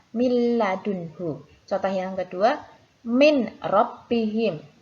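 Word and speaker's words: مِن لَّدُنْهُ: Contohnya min ladunhu ya, huruf nun sukun bertemu dengan huruf lam, maka harus dimasukkan ke huruf lam juga. Cara membacanya miladunhu.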